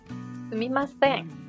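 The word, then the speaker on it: すみません: atau Permisi demi Master n terakhir dibaca anget semi mase jadi misalnya kalau kalian itu menginjak kaki orang gak sengaja ya kalau misalnya bilang maaf kalau bahasa Jepangnya kalian bisa bilang semi masteng terus kalau misalnya orang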